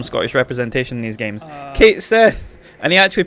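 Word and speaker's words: Cait Sith: Please tell me he pronounces his name. Kate Sith, fortune teller. Kate Sith!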